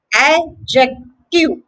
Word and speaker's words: adjective: good news is that the letter d is actually silent here the word is just adjective a jack to adjective